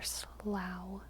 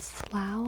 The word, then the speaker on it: Slough: Sloth or slough or slaw or something. Shuk. We have the Valley of Oblivion and the gift shop. There's a town in UK called Slough and it's pronounced ow. Okay, Slough.